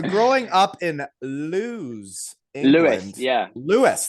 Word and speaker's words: Lewes: Lewis, that's how you say it? Yeah. Well, then why is it an E, not an I? I know. I would have called it Lewis if it was spelt like that.